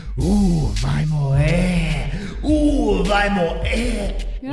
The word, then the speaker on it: morrer: You don't even pronounce the R. Vai morrer. That's morrer. Morrer. No, you're saying like a Spanish. Two R's. This is Portuguese.